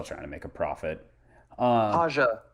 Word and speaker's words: Haja: Haja, not Raja.